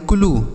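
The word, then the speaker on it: clue: आगे लिखा है सी एल यू ई, इसे पढ़ेंगे क्लू, क्या पढ़ेंगे, क्लू। सी आर यू ई इसे पढ़ेंगे क्रू, समझ आया बच्चों।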